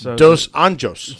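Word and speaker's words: dos Anjos: it uh it's weird they pronounce their RS like H's so even though it looks like rafhael it's it's hael but then it's Portuguese instead of Spanish so it's dos anos yeah so they go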